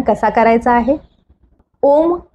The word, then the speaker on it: ॐ: चला तर मग शिकूया ओम उच्चारण कसा करायचा आहे ओम हा तीन ध्वनी पासून बनला आहे पहिला अ दुसरा उ आणि तिसरा म हे ध्वनी आपापले वेगवेगळे